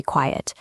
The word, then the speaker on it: quiet: Quiet has two syllables. We say quiet. Quite has one syllable. It sounds like night. The library is very quiet.